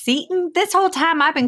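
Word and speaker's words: Seton Hall: Jersey Sean Hall University wait you say it's pronounced Satan this whole time I've been calling it settin Hall no wonder people look at me funny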